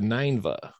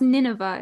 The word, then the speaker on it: Nineveh: when he went to ninva and ninva is a Babylonian city with a temple that the Temple of ninva was to Saturn uhuh so I've always heard it pronounced Nineveh is that what you're talking